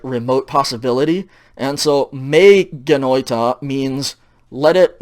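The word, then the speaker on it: μὴ γένοιτο: Okay, and it's pronounced and it's read me genoita.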